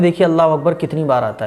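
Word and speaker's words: الله أكبر: अब दोनों को जब आप मिलाएंगे तो हो जाएगा अल्लाहु अकबर। अकबर अकबर, कुछ लोग अकबर नहीं अकबर, अल्लाहु अकबर। तो ये सही प्रोनाउंसिएशन है, अल्लाह अकबर ऐसा नहीं।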